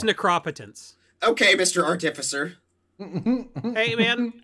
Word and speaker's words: Necropotence: which for some reason link pronounces it necropotence can we fire him for that I'll let him know and I'll see him in a few weeks it is necropotence okay Mr artificer hey